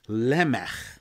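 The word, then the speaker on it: Lamech: there was somebody called lemon and I am pronouncing it with the Hebrew pronunciation with a at the end like at the end of the composer Johann Sebastian Bach lmf same sound and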